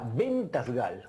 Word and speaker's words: Ben-Tasgal: Se pronuncia hermoso, suena Ventasgal. Ahí está, viste, yo sabía que no lo iba a decir bien, por eso quería que lo dijeras vos.